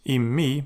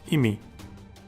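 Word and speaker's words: אִמִּי: It is Immi because of the Dagesh Forte. It is not Imi.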